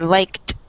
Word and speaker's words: liked: This word in the past with like, it's pronounced almost with a T sound. Liked.